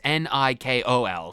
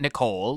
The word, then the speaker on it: Nikol: I'm going to try and pronounce it as if I'm pronouncing Mikol from Xenoblade 1, but it's Nikol, so it's not Nicole, like Nicole, or anything like that, or Nickel.